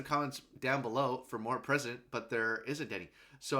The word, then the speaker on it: President: President Dante. That's not how you say it. It's just President, but that's okay.